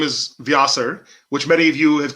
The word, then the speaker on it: Vyasar: Vyasar is there's a South Indian chant, a Tamil chant, that uses Vyasar instead of Vyas, because according to my dad, it's the formal way to pronounce Ved Vyas.